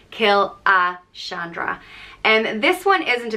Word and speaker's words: Killashandra: letters right but um and it's pronounced kill a Chandra and this one isn't